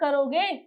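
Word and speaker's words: Cairo: France रोम, Norway हवाना और Egypt कैरो, जिसे कैरा पढ़ा जाता है, ओ साइलेंट होता है, कायरा।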